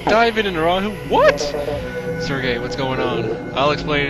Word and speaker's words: Sergei: um in in the past episodes i probably pronounced this guy as his name as sergi his name is actually supposed to be pronounced um sergey um and i i did actually check um